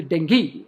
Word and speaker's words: dengue: zone for dengue fever you pronounce it as a dengue it is not dengue it is actually dengue and dengue is i